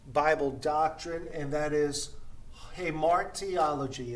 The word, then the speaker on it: Hamartiology: or this important bible doctrine and that is hey mark theology it's pronounced hey more theology and hey mark theology is the doctrine of